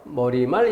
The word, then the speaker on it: 머리말: 발음에서 주의해야 될 것 머리말 인사말 이것은 뇌 놈을 넣어서 발음하는 것이 자연스럽다 라고 잘못 생각하는 경우가 있다면 반드시 마킹 해서 내가 틀린